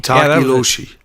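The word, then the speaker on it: Tokoloshe: a purpose or whatever, or how did you pronounce it? Tokloshi or Tokloshi? Tokiloshi? Takiloshi.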